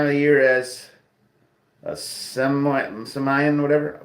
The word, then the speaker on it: Samhain: Because Halloween is at the same time of the year as a Samian, whatever, pronounced as Samhain.